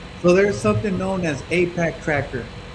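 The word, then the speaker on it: AIPAC: So, there's something known as Apac Tracker.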